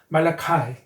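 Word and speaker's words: Malachi: 그러니까 I 발음이 I가 나니까요. 말라카이.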